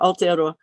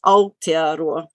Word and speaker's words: Aotearoa: Was it who was it that said, could you pronounce Aotearoa? There you go, Aotearoa. Land of the long white cloud, for those who want to know what that name means, Aotearoa.